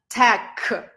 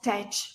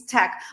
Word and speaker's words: tech: where do you work you work in Tech not tach please don't say tach it's wrong uh believe it or